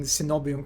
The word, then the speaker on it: Cenobium: assistance in the electrodynamic Cenobium. Your arrival could not have come at a better time. Visiting me in my personal office. Also, I wasn't sure if I was pronouncing Cenobium correctly. Thankfully, I was.